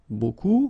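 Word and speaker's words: beaucoup: you want to use Buu Buu means a lot of it look it looks a bit strange B like that remember you don't pronounce the final P okay and then you've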